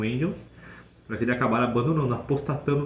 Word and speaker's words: Engels: Marx Carl Marx junto com engels ou Angels pronúncia certa é Angels Eles foram os fundadores